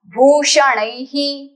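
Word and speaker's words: भूषणैः: कंठस्य कंठस्य कंठका श्रोत्रस्य श्रोत्रस्य ऑफ the years भूषणै फॉललोड बाय विसर्ग will give you he sound भूषणह ऑफ ऑल the ornaments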